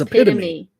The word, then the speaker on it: epitome: be look at that epitome how did you pronounce that epitome it's epitome see you've never really seen it written out